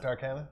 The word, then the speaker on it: Darkana: Darkina. Arcane? We'll get back on that. Is it not, they're- is it not Darkana? Are we just They're- pronouncing it wrong? No, Okay. you're doing it right.